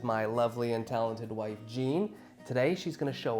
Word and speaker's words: Jean: But when I met you, you were Jean, and we decided to stick with that English name because, hey, Jean rhymes with Dean, and so, hey, there's something there, right?